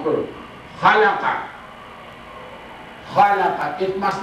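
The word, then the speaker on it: خلق: it must not be alaqa, it must not be mixed with other letters, similar letters, no. This letter is with dot at the top, khalaqa. It must be khalaqa, it is not halaqa.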